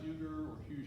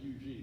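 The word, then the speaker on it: Huger: you see his name it's not huge it's actually ug that's how they pronounce the south carolina he was told to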